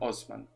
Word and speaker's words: Osman: it's the Empire of Osman. So like Oz, the man, but it's spelled with the S.